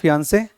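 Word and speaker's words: fiancée: तो हमने बात की थी कि अगर लड़का है तो इंग्लिश में क्या बोलते हैं, फियांसे, और लड़की है तो फियोंसी।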